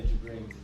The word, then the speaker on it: Jibrin: Did I pronounce it well? Yeah, JIBRIN'S.